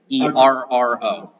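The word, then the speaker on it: Feroh: You know this is Pharaoh then. but it's not spelled the same way. So it's kind of a play. F-E-R-O-H? Ferro.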